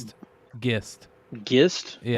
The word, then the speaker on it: Gist: It's Gist, right? Is that what somebody said that you pronounce it? Gist. Gist? Yeah. Like with a hard G? Yeah, like GIF.